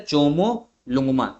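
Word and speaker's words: ཇོ་མོ་གླང་མ: आपका mount Everest को हम लोग बोलते हैं चोमो लुमा क्या बोला जाता है चोमो लुंग मा चोमो लुंग मा ये ध्यान रखना और नेपाल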